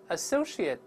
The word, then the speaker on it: associate: workmate， workmate， colleague， colleague， associate， associate。注意 ate 一般只有在动词中发 ate，名词和形容词中一般发 it 而不发 it。